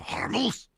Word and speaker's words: Hormuz: it's the Strait of Hormuz. How do you pronounce it? Yeah, very similarly. It's the Strait of Hormuz. So just a little more aggression, anger. Yeah, violence in your voice.